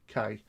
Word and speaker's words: Karnak: So, with a K at the end. So, no, actually, no H. It's Karnack.